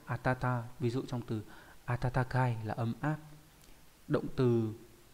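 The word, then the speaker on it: 暖かい: Ví dụ trong từ atatakai là ấm áp.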